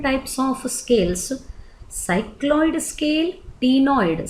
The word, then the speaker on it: ctenoid: Then skin is covered with 3 different types of scales: cycloid scale, ctenoid, C is silent here, and ganoid scale.